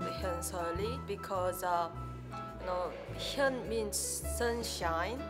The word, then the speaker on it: Hyeonseo Lee: Can you teach me to pronounce it right? Hyeonseo Lee. Hyeonseo Lee.